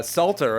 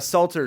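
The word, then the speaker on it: Psalter: precious content here uh a Salter spelled with a p it's like a h book or like a like a book of Psalms I'm skipping ahead because I want to play some 3:00 a.m.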